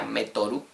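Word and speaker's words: メートル: En japonés se pronuncia metoru.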